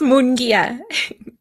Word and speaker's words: Mongia: They're going to be um with guest Mongu. I don't know how to say your last name. How do you say your last name? It's okay. It's Mongia.